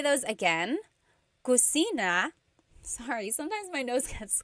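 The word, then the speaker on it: kusina: about the kitchen so Kitchen in theog is cusina cusina so in talug there is no letter C so in Spanish if it's spelled with a c usually in Tagalog it's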